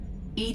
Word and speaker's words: EDI: are you named Ed Ed is the phonetic pronunciation of Eed that is an acronym for enhanced defense intelligence what do you do